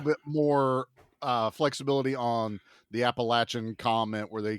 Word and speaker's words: Appalachia: little bit more flexibility on the Appalachian comment where they say, Yeah. I hate when they go Appalachian. Fuck off. Okay. That's our word. And it's Appalachia.